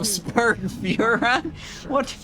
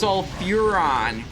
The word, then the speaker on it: Sulfuron: Taste in the flames of Sulfuron? What is no, it's Sulfuron. You're getting the name wrong, Johnner.